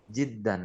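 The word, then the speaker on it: جدًّا: fathah fathah Jid gitu Jiddan ni kasrah jimnya di fathah dalnya selalu enggak pernah domah enggak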